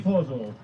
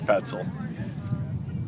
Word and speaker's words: Petzel: Pozel, excuse me. Oh, I think it's Petzel. Yeah, I think he mispronounced it. You can always tell if you listen to the squad in the dugout, and they'll call him that because it's wrong.